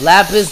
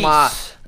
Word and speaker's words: lapis: It's lapis lazuli. It's pronounced lapis.